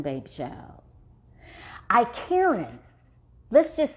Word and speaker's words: Icariin: The active ingredient that gives it its aphrodisiac properties is something, now don't get me to mispronouncing, baby child. Icariin.